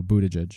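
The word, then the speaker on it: Buttigieg: his name Buddha judge I thought it was Buddha leg or some no Buddha judge mayor Pete it's a easier call on that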